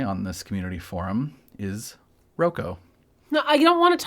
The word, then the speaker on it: Roko: I'm going to say Roko. Okay. And if you say Rocco, then I'll yell at you because that's what you're supposed to do when somebody pronounces something totally validly a different way.